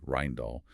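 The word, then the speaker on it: Rijndael: AES is based on the Rindale algorithm pronounced roughly Rindall which was developed by two brilliant Belgian cryptographers Joan Damon and Vincent Ryman.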